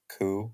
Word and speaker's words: coup: How do you say it? Coup? Yeah, that's the right way to you're say right. it. Yeah, Like you're- a pigeon? Like a pigeon goes coo? Cuckoo.